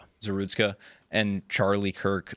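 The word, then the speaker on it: Zarutska: I don't know how to pronounce her last name. Zeritzka. Zerutska and Charlie Kirk.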